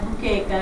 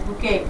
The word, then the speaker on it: Bukeka: Bukeka, and I said, I know I'm not pronouncing it right, because now I'm in the home, where in the motherland, right? And I was like, so tell me how to pronounce it. And they're like, Bukeka, it's Bukeka.